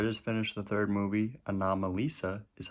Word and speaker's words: Anomalisa: so i just finished the third movie anomalisa is how it's pronounced apparently and uh yeah it was exactly